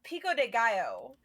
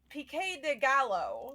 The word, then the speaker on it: pico de gallo: They better at least know how to pronounce taco and pico de gallo and not say. They said pique de gallo. That awful. What the fuck is pique de gallo? Pico de gallo.